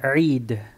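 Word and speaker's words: عيد: Ain, kasra, extensión de la I y la dal con sukun. Eid.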